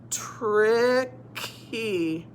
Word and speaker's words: tricky: If it's a long word, if it has more than one syllable and with a Y at the end, the Y is going to say E. Like happy, tricky.